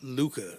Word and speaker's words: Luca: brand shout out to Luca it's like hookah but spelled with an L Luca makes a lot